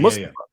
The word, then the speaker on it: Mustafa: He's been commonly referred to as Mustafa Ali. He had a heel run in the pandemic era. We're still in the pandemic era. What am I saying? But like the PC and Thunderdome era, where he was saying, this is how you actually pronounce this name. It's Mustafa.